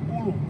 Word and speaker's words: ulu: There's an Ulu tree. What's it? How do you say it? Ulu.